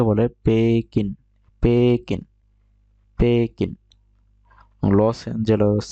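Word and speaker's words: ペキン: নিউ ইয়ক New York New York তার Beijing কে বলে packing পেকেন পেকেন loss এঞজেলস কে বলে যেহেতু তাদের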